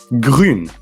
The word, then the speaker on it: Grün: Grün. So how'd you spell it?